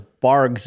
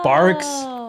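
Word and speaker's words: Barq's: Well, what I thought my whole life was Barg's root beer. Oh. I'm pretty sure it's Barb's root beer.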